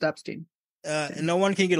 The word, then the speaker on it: Epstein: ] his name is it's still pronounced Epstein uh no one can